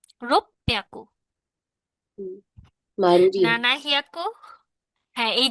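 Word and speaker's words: ろっぴゃく: Roku হিয়াকু হওয়ার কথা, এটা রোপ্যাকু। রোপ্যাকু।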